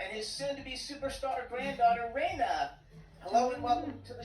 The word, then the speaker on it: Reina: Am I pronouncing it correctly, Reina? Yes, you are pronouncing it right. It's Reina.